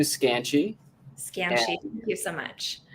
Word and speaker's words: Skanchy: tell us your last name and how to pronounce that i've heard it three different ways oh yeah so my last name is scanchi scam thank you so much um perfect so